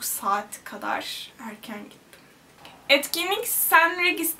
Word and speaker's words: St Regis: kadar erken gittim etkinlik s regis diye okunduğuna inandığım bir oteldeydi yani ST regis Bence sen regis diye okunuyor Evet Yaklaşık 3